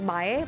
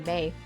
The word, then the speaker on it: Mae: Well, my last name is usually pronounced as Mae, but I don't mind making it easy for you and just say May.